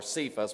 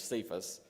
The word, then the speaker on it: Cephas: be called kaphos or cephas we sometimes pronounce that in english which is by interpretation